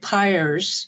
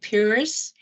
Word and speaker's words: Pires: I know that Pires is the way you hear the name, even in my family. I've always pronounced it Pires, which is actually closer to Portuguese.